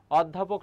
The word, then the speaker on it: অধ্যাপক: তাহলে অধ্যাপক আমি যদি এখানে লিখি কি হবে বলতো, এই যে ও হয়ে যাবে ওদ, তারপর হবে ধা, অধ্যা, তারপরে কি বলতো পোক হবে, অধ্যা পোক। এটি হচ্ছে তোমার উচ্চারণ। এবার একটু আগেই কি বললাম,